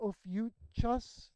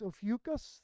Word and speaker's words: Ophiuchus: Yeah, it looks like Ophiuchus, the spelling. believe it's pronounced Ophiuchus, the serpent carrier.